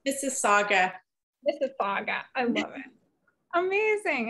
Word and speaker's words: Mississauga: It's pronounced Mississauga.